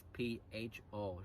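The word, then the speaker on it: phở: The writing is P-H-O, pronounced called pho.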